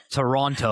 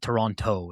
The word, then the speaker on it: Toronto: We don't pronounce We don't pronounce the second T. You're Canadian. You should know this. Toronto. Yeah. Toronto. Yeah. Wait, what? So toron Toronto.